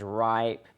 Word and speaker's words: RIIP: it's i riip um we pronounce it as ripe because it sounds better um it's a lot easier to say than be rip or however you would pronounce r-i-i-p but what it stands